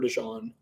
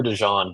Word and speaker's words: DeJean: I think Terrion Arnold and Cooper DeJean. Then they signed C.J. Gardner-Johnson in the offseason, who will be a good mentor. What? They also had him last year, Cooper DeJean.